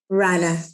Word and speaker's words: Rana: am I saying it right r an Rana raana raana okay um sorry about that if from